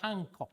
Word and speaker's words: Hancock: we can describe as the Hancock effect, where the stress is on the last syllable.